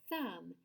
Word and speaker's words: thumb: But sometimes TH is not voiced. It's a quiet sound and our voice box is turned off, like in the word thumb. Say thumb, thumb. Stretch out that TH sound at the beginning. Thumb. Do you feel that? It's not voiced.